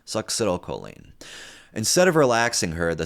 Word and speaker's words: succinylcholine: Succinylcholine. All right. Like suck a dick. Succinylcholine.